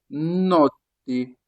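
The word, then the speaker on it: notte: Lorsque le O est ouv le prononce comment ? O. O. O. Comme dans le mot noté. Noté. Noté. Il faut le tirer un peu. Noté. Noté. Noté qui signifie nuit. Faut mieux le prononcer le t- là, il faut penser au mot porte. Porte en français.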